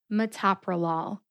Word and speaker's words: metoprolol: Metoprolol. The second syllable, to, gets the emphasis.